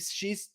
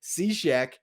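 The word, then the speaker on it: Cishek: right before lendore steps in he's facing steve she's steve seashek who hit him in the face was laughing at my mispronunciation there not at the circumstances want to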